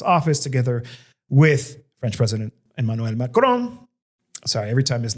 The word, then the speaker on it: Emmanuel Macron: press conference and he he speaks French and so he pronounces it with a French accent. Emanuel Macron, they went to town.